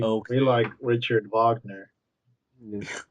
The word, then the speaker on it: Wagner: Richard Wagner, Yes. Wagner. as Americans would say Wagner. Kurt They Wagner. pronounce their W's like V's.